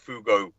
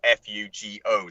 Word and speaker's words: Fugo: I explained to him about the Fugo bombs, Fugo Japanese balloons. I was there, and I told him it's spelled F-U-G-O, the Fugo bombs, and these were the world's